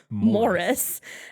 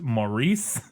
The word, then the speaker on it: Maurice: cover this saying that actually British people pronounce it Morris.